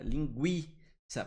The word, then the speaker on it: linguiça: Porque esse U é pronunciado, ele é fraco, mas ele é pronunciado. O som dele é fraco, beleza? E ele é pronunciado. 50, linguiça.